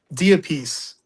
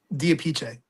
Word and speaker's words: DiApice: Whatever way I can pronounce it. Diapiece. I was right. I should have said it. I figured that's what it What is the Italian way? Diapiche.